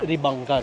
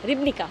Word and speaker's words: Ribnica: I know I'm pronouncing it wrong, but Morak River, and the other one is Ribanka. Ribanka River. Ribnica, sorry.